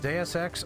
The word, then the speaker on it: Deus Ex: Wait, once again getting word it's pronounced DSX.